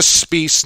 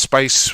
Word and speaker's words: Spiess: Kayla Spiess, not Spice, along with Miss Ashley Docking will have the call for Game 2, and we will make our picks.